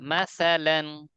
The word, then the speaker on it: مثلا: مثلا স্যার উচ্চারণ কোথা থেকে? জিবার আগে দাঁতের আগা। মাসালান।